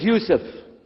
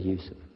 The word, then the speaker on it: Yusuf: work on it shalom my name is yousef can you say youssef you said yusuf you're very good i wish you'd teach